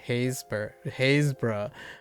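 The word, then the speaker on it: Happisburgh: It's sort of the opposite for some places in England, like Happisburg. You don't pronounce the P. Oh, so Habsburg. So it's pronounced more like Haysborough.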